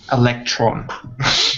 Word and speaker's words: electron: together quite a few points um just one pronunciation this is electron electron okay electron good yeah so the emphasis is on the